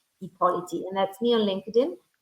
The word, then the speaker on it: Ippoliti: they can find me on LinkedIn, Chiara, Chiara, Chiara, although it sounds like a K, but it's Ippoliti, Ippoliti, Ippoliti, and that's me on LinkedIn.